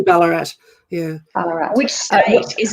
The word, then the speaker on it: Ballarat: island to the mines is that balarat have i pronounced that it's probably it's probably ballarat yeah colorado which state